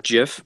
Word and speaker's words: GIF: I remember watching that gif and like man like that was such a cool scene right there like a little montage or whatever its called by the way it's pronounced jiff but that's a discussion